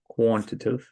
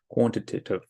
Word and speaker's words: quantitative: next one is quantitative now terms of actually pronouncing this quantitive quantitative all right quantitative I'm going to say quantitative data all right an example